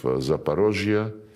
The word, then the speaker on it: Zaporozhye: When we now liberate remaining parts of Zaporozhye, this is the Russian way to pronounce it, and Kherson, the people,